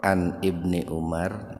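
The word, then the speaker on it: عن ابن عمر: Islam untuk meninggalkannya nah di hadis ini dikatakan anibni umaro nah atau bisa juga membacanya an Ibni umaro tetapi dikarenakan ini nunnya sukun maka nunnya diaktifkan kemudian Al nya diabaikan Jadi kalau dipisah begini an Ibni Umar kalau diwasol disambung jadi anibni Umar dari Ibnu Umar Ibnu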